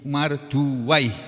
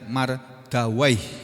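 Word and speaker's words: Mardawaih: Wa qad rawahu Ibnu Marduwai, ya. Di sini dibaca begitu. Kalau guru saya membacanya Mardawai gitu.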